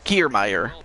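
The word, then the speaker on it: Kiermaier: throwing the ball across the plate nobody on care meyer kiermeier okay thank you for uh helping uh with the pronunciations but kiermeier with a huge home run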